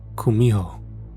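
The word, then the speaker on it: 구미호: it as Kitsune though in Korean it's pronounced Kumho what I was sent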